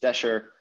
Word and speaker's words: desher: So Egyptological pronunciation is desher. Torsh is the Coptic equivalent.